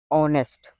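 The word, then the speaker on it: honest: लेकिन एच को यहां पर साइलेंट किया गया है। सिर्फ ऑनेस्ट बोला जाता है।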